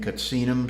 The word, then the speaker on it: Katsinum: Their preferred pronunciation is Katsina, plural being Katsinum.